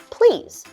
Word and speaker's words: please: Let's focus on the word please. This time, we're going to make it into 1 syllable. So it's similar to police, but we're going to combine the 2 words together and say please.